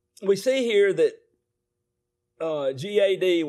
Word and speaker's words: Gad: see here that uh gad which is pronounced god is a deity with